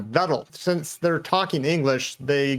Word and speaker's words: Vettel: mind also was vettel if you're talking german you say fetal not vettel since they're talking english